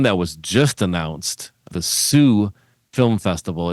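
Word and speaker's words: Soo: And then one that was just announced, the Sioux Film Festival. It's spelled S-O-O, but if you're a Michigander, you know that that's pronounced Sioux.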